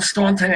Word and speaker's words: Staunton: You put the U in Staunton and you don't pronounce it, and you've got the last name McSweeny and it doesn't have a third E in it.